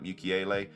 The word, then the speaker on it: Mukiele: And then I've gone for 2 4 mil defenders as well in Rodon, and I'm not sure how to pronounce his name. It's like Mukiele.